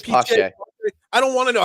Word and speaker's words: Pache: It's Pache.